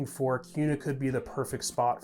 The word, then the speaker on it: Kuna: a lot of people think it might be pronounced kuna idaho but that's actually not correct as you can see it's actually hear me saying it's pronounced cuna idaho so if you want to sound like